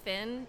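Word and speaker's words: Phin: If you really like really good coffee, there's this place called Finn. It's spelled P H I N.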